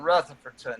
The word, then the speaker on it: Rutherfordton: reverend marsh for both pronouncing all four syllables in rutherfordton it's quite an accomplishment to get all four of those syllables in there uh andrea you gave